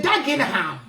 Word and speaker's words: Dagenham: They're going to say Dagenham.